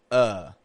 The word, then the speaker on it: the: If the word following the starts with a consonant, we're going to pronounce a schwa on the ending. The door, the table, make the bed, the.